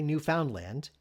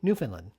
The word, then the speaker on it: Newfoundland: Some say Newfoundland, and some say Newfoundland. Most Canadians will tell you it's the latter, Newfoundland. But as I've been told by people who come from there, they don't much care.